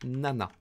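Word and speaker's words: 七: c'est le chiffre 7 qui se prononce normalement ccici mais encore une fois c'est pas très poli donc on va le prononcer nana très bien dire là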